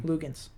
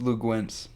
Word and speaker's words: Luguentz: Really, how do you pronounce his first name? Lugans. It's Lou Gwentz.